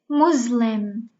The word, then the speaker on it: Muslim: mesopotamia muslim muslim okay we pronounce it with ze muslim now let's go to